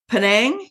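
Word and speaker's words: Penang: feel so you're in in in Malaysia in panang is that how it's pronounced yes that's an island so you're in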